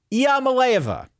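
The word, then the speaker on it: Iamaleava: the starting quarterback now IIA malova is how you say the name Nico is how I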